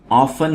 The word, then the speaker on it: often: झगड़ा, dispute, dispute, Ali and Ahmed often have disputes about silly things. दोस्तों ये word often है और इसमें T साइलेंट है।